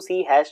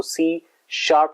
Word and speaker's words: C#: तो basically C लिखा तो इसको C हैश जाता है, लेकिन इसको हम जो प्रोनाउंस करते हैं वो C शार्प के नाम से करते हैं। जो हैश की सिंबल है इसको हम शार्प रीड करते हैं और उसकी वजह